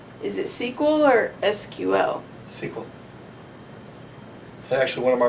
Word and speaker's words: SQL: How do you pronounce the thing that's spelled S, Q, and L? Is it SQL or SQL? SQL.